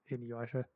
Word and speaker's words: Inuyasha: Inuyasha, Yeah, there you go.